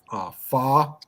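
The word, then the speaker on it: phở: They call it pho, don't they? Well, it's called pronounced pho.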